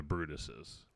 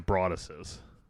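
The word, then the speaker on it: Broaddus: get their name wrong I keep W to call them the brutus' the brutus' but it's the the bruses I keep when you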